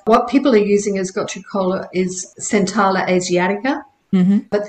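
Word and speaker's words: gotu kola: Another example is, I think a lot of people have heard of gotcha kola. I never know how to pronounce it right.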